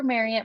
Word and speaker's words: Marriott: So I still work for Marriott, rhymes with chariot.